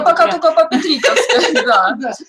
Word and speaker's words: Петриковской: Я пока только по петриковской, да. Петриковской, извините, да, там ударение.